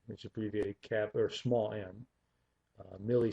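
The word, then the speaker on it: μ: not an English letter it's a Greek letter me mu is how you say that mu um and that is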